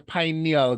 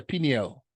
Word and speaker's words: pineal: Have you all ever heard of the pineal gland? Or some people say pineal, however you want to pronounce it.